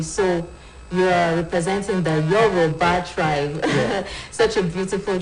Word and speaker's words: Yoruba: The correct pronunciation is Yoruba. Yoruba.